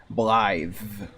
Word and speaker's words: Blaidd: The way ahead is his name is Blaidd, and it's pronounced Blythe.